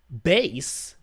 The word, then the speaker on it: bass: For your information, bass in the musical context is pronounced bass. All right, I don't know why I said bass.